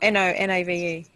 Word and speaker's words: nonave: Oh, N-O-N-A-V-E. Yes. Okay. It's not octave, it's nonave. Or nonave. Okay, do you understand?